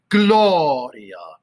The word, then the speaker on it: Gloria: start off by doing gloria emphasis on the first syllable gloria off so if